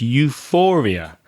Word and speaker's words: euphoria: and the noun is euphoria that pH is pronounced like an F sound Euphoria Reza when you